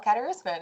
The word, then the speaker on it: Kadarusman: I talked to the girls before about how I kept on mixing it up with Kardashian all the time, but it's not that hard. You just like phonetically read the name out. It's actually pretty simple.